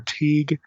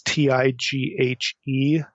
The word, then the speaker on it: Tighe: appears online by William, I don't know if you pronounce his name Tighe or Teague. It's Tighe.